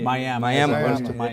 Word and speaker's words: Miami: Miami. That's how you say it when you're from where we are from.